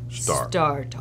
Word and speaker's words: StarTalk: You got to say it right. StarTalk. StarTalk. A little lower. StarTalk.